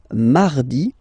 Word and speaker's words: mardi: So you can hear that you don't pronounce it that strongly, this R. Mardi, mardi, okay? You don't need to go too deep like mardi. No, no, no. You don't move your tongue, so it doesn't sound like mardi.